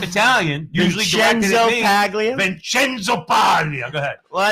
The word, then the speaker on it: Paglia: Say it like an Italian. Vincenzo Paglia.